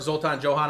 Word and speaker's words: Zoltan-Johan: um Gabriel uh invert Zoltan Johan I hope I'm pronouncing your last name right man yeah I barely can pronounce my own right it's okay it's helpful that it Rhymes and uh we're very